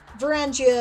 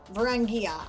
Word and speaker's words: Varangia: Varangia, I should say. I should pronounce it right. Just because somebody taught me to pronounce it wrong in school is no excuse to continue doing it.